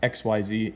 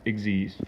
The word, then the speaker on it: Xyz: No, it's not XYZ, it's pronounced Eggsy.